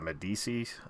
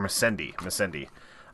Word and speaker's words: Missandei: Yeah, Grey Worm, and I always mispronounce this girl's name. It's like Medici, I think, or Missandei.